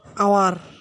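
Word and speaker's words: hour: সবসময় খেয়াল রাখতে হবে যে আওয়ার, এখানে 1 আওয়ার হবে না, হবে অ্যান আওয়ার, অ্যান আওয়ার। যেহেতু এইচ উচ্চারিত হইতেছে না, তাই এ না হয়ে হবে এন, এ না হয়ে হবে এন।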